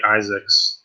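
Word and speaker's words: Izaakse: I think it's just like Isaacs, to be honest. I thought it was Isaacs too.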